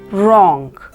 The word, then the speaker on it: wrong: watch in this word letter W is silent so it is pronounced as wrong in this word letter